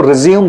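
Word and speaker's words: résumé: Biodata जो होता है उसी को हम अमेरिकन इंग्लिश में रिज्यूमे कहते हैं। एंड अ ब्रिटिश इंग्लिश में हम इसको करिकुलम विटा या सीवी भी कहते हैं। ओके? समटाइ्स दिस कुछ लोग इसको रिज्यूम पढ़ते हैं।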